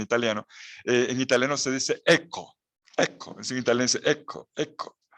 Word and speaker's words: ecco: En italiano se dice ecco, ecco, en italiano se dice ecco, ecco, ecco.